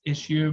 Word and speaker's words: issu: uh put in the address i-s-s-u it's actually pronounced issue but spelled dot com slash autopia uh that's